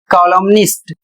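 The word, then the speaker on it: columnist: इसमें एम एम भी पढ़ा जाएगा और एन भी पढ़ा जाएगा। यानी एम और एन दोनों का उच्चारण किया जाएगा। जैसे इसका उच्चारण होगा कॉलोमनिस्ट। इसमें एन बोला जाएगा।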